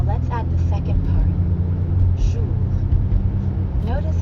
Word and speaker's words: jour: And the R at the end of jour doesn't really sound like an English R. You should feel that R in your throat. Jour. Yeah, almost like you're gargling or clearing your throat.